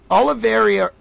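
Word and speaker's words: Olivier: Olive. Olive. It seems like Oliver, but it's spelled O L I V I E R.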